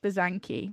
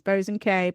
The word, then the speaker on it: Bosanquet: and say it, but it's pronounced Bosanquet, but people might pronounce it as Bosanquet, but Bosanquet.